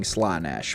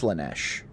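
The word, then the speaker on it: Slaanesh: And this is their way of pronouncing Slanesh, but it's Slanesh.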